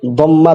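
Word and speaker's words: ضمة: রফা হবে দম্মা দ্বারা, এটা জুম্মা না, অনেকে জুম্মা বলে, এটা মারাত্মক চরম একটি ভুল। শব্দটি জুম্মা না, দুম্মাতুন না, দদের মধ্যে বিল ফাতহাতি, ফাতহা দিয়ে হবে দম্মা। তাহলে রফা হবে দম্মা দ্বারা, নসব হবে ফাতহা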